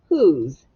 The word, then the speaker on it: whose: a trick word is you don't hear the w at all you do hear the h but it looks like it's a vowel consonant e word but it's it's not because this o makes the ooh sound not the o sound and the s makes a z all right who's w